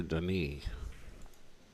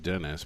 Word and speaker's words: Denis: 73 to 57 in favor of daughter over Den I always said Dennis but it's pronounced Deni apparently I guess that makes sense 73 57